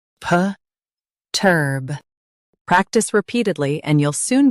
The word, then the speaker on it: perturb: Stress turb. Keep it strong and clear. PERTURB, PERTURB.